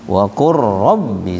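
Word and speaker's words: قل رب: Lam ketemu ra harusnya idgham mutaqaribain. Wa qul rabbi dibacanya wa qur rabbi zidni ilma.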